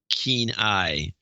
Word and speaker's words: Kenai: Kelly from Kenai. Sounds like Keen Eye.